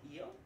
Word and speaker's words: Io: Or, sorry, I think they're pronouncing it Io in the script. Okay, sorry. So there's international debate about what. Oh, I know. I'm sure we're going to hear that. So I say Io by default, but it's Io in your script.